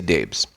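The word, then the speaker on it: Daibes: menendez's and Fred dbes dbes is spelled d a i b s daes I'll say Daves a New Jersey business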